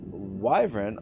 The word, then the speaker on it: wyvern: Lucius the Eternal says, it's Wyvern like Wi-Fi. Wyvern.